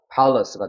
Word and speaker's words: palace: 얕은 shallow가 되는 거고 여기 같은 경우는 강세가 어디 있을까요? 아리 학생? 앞에. 그렇죠. 여기 있는 거예요. 그래서 여기서는 힘이 들어가서 에 사운드가 되니까 pal이 되는 거고 여기는 다시 으 사운드가 됩니다. 이건 슈아 발음이 되는 거거든요. 그래서 palace가 되는 겁니다.